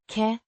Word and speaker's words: kan: Pronounced. kan, Rhyming with van, It's a modal verb indicating ability or possibility.